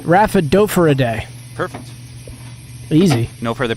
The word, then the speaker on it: Rhaphidophoridae: That'd be Rhaphidophoridae. Rhaphidophoridae. Perfect. Easy. No further pronunciations needed.